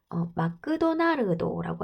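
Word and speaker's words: マクドナルド: 맥도날드를 일본식 발음으로 마크도나르도라고 하잖아.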